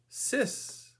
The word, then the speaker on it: six: Six is sis.